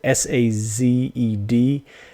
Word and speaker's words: Sazed: It is Sazed.